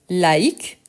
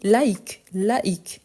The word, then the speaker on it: laïque: Par exemple, quand on parle de laïque, donc on doit bien prononcer le I et en plus, on doit prononcer le C.